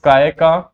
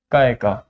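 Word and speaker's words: ಕಾಯಕ: ठीक है, first is your कायका, KAYA, कायका, which means, bracket में लिखो, divine work. I mean these are Kannada, जो कन्नड़ वर्ड सही है इसलिए हम इनको ऐसे प्रोनाउंस करते हैं।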